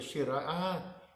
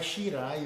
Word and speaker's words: Shirai: A Shirai, né? o Shirai é pronunciado com o Rai de maravilha, Shirai, e não Ra de rato. É Shirai, olha, Shirai.